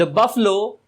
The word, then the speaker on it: buffalo: बफेलो मत बोलिएगा, बफेलो गलत प्रोनाउंसिएशन होता है, बफलो। इससे आप कहिएगा बफलो।